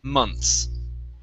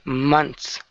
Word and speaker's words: months: So we don't actually pronounce the TH. We say months. Okay, months.